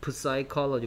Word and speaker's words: psychology: p가 소리 나지 않습니다. psychology 뭐 우리가 뭐 psycho 뭐 이렇게 얘기하죠.